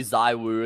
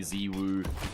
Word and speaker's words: Ziwu: Like, remember it used to be Zaiwu, and then he came on and said it's actually supposed to be Ziwu.